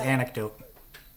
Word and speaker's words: anecdote: No, the C is actually pronounced as a K, so it's pronounced as an anecdote.